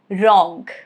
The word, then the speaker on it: wrong: Letter W, silent if it comes before letter R at the beginning of a word. Example, wrong, rap, right, wrist, wrestle.